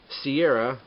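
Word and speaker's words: Shiera: there we go uh Princess uh Sierra uh I believe that's how her name is pronounced here and her beloved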